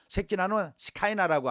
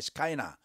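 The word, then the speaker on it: Shekinah: 제가 이 세키나는 시카이나라고 하는 이 발음인데, 볼 수 있게 드러나는 하나님의 영광으로 흔히 접근할 수 없을 정도의 찬란한 빛을 말한다.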